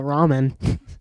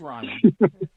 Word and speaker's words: Ryman: Or as I used to call it, the ramen. No, it is Ryman.